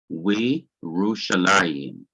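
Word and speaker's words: וירושלים: from underneath the waw, but this yoth becomes silent, and the simple shua underneath it also drops out and is not pronounced. And you combine the yoth with the dot under the waw, it gives you we Rushalayim, meaning and Jerusalem.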